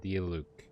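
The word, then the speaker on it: Diluc: Pronounced D-Luke, not Zilch.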